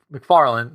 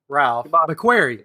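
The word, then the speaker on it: Ralph McQuarrie: I'm gonna mispronounce his name because I always mispronounce everybody name McLaren or M McFarland no Ralph McFarland I don't know you know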